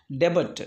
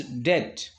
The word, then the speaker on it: debt: The same way, many people often confused the word debit. It is not a debit, it is debt, which means loan. The B letter is silent.